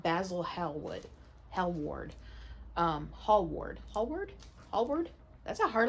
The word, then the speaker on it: Hallward: lord henry and basil hellwood hell ward um hall ward hallward hallward that's a hard last name to pronounce hall ward h-a-l-l-w-a-r-d huge deal